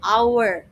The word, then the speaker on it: hour: Uh in English the H is silent. So hour glass.